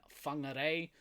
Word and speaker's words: Whangarei: You'll hear a lot of towns and place names in this country that start with the F. For instance, Whakatane and Whangarei.